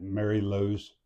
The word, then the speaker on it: Mary Lou: What's the correct way to say Aunt Mary Lou's name? Mary is two separate words.